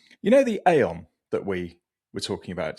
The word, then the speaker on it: Aeon: we did at Changan, now I have to consciously think about how I pronounce it so I don't say it wrong. So I don't want to get a slap on the wrists from the PR people at both those brands. But it's Aeon, and it's Chang'an, not Chang'an, and it's not Ion.